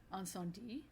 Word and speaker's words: Incendies: and we had watched Anon D which I I embarrassingly enough Ricky I was um calling this or pronouncing this wrong last week it's not you don't say the the S the end yeah I notic that